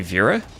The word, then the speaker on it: Vera: Like Vera. I guess you could also say Vera. I would pronounce it like the beginning of verify, I guess.